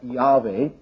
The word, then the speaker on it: Yahweh: His very name, we have the Hebrew tetragrammaton, which we normally pronounce Yahweh, or something along that line, Yahweh, and that means the eternal.